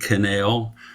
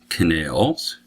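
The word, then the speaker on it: cannel: is called an end canal i think that's how you pronounce it it's spelled c-a-n-n-e-l so i i think that's canal in canal and out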